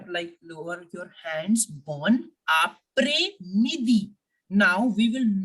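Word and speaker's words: après: lower your hands born apre midi now we will not forget the first rule here the S I am not pronouncing it as a press no no sound of s it will remain silent born means good afternoon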